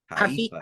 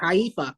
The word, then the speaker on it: Haifa: I'm definitely not pronouncing that, but Huh? Haifa. Haifa.